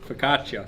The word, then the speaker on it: focaccia: This time it's the focaccia. That's not how you say it. What is that word? Focaccia.